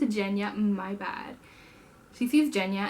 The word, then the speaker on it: Genya: Her name is pronounced Genya.